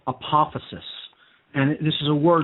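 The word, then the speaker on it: apophasis: it's a method of reasoning okay it's called apophysis and I'll spell that for the listening audience its APO phas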